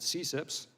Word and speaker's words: CCIPS: and intellectual property section which is abbreviated ccips and we pronounce it cips is a section within